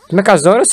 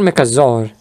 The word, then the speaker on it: Mechazaur: Mechazaurus or Mechazaur? Mechazaur! It's Mechazaur! Oh, so I did it. I said it right.